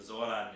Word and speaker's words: Zoran: that the Z in Zoran is pronounced like a Z, and the Z in Žarko is pronounced like a Ž.